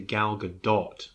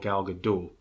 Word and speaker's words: Gal Gadot: Apart from the fact that, and I'm assured that her name is actually Gal Gadot, not Gal Gadot.